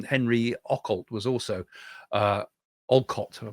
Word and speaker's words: Olcott: way was um Henry Oalt was also uh Olcott, I'll pronounce his name.